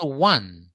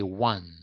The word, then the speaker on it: one: box and what about one or universe one here in the last example one what we do not say on or something we say one so what's the discrepancy